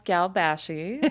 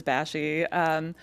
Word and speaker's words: Gal Bashi: Okay, so that's Gal Bashi. That's our other brand, and we refer to it as Bashi.